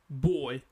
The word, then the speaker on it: boy: That's why we'll say boy. Okay? Our our lips are touching together.